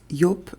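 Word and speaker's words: Joop: And I used to pronounce it Jup. It's not Jup. It's Yop Lubang because this is a German company.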